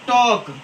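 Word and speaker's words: talk: है L silent है तो शुड हो गया साइलेंट शुड ये क्या है टॉक टॉक एल के पहले ए आया है जो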